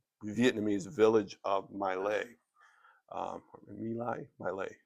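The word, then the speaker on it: My Lai: Um Milai Malay Malay is how it's usually pronounced.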